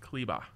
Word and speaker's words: Kleber: Kleba. Oh, it is, and they were pronouncing that properly on the broadcast.